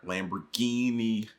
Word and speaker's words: Lamborghini: Lamborghini.